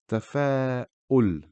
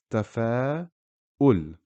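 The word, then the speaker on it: تفاؤل: Here the word is tafa'ul, tafa'ul. Again, notice where the Hamza is. I am pronouncing U, tafa'u, because Dhamma makes the sound U.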